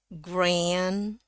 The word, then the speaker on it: grand: But thought they were nice, grand. Ya, ini A dengan N bacanya E ya. Biasanya bacanya jadi kayak E dengan E. Grand. Jadi seolah-olah dua suku kata ya. Gray dengan N. Grand. Naik dulu dia.